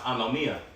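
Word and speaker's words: ἀνομία: And when you read that verse, because iniquity shall abound, when you go into that word iniquity in the Greek, that word is pronounced anomia.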